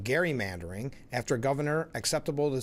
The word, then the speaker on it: gerrymandering: It's actually pronounced gerrymandering after governor.